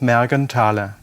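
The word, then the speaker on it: Mergenthaler: my Ludwig Bergen Taylor the th is not pronounced it's just magentale foreign watchmaker I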